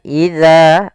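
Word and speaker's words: إذا: Kemudian idza pada lafal za ada mad tabi'i, yaitu panjang za-nya 2 harokat. Hati-hati jangan sampai terbaca dengan huruf zai.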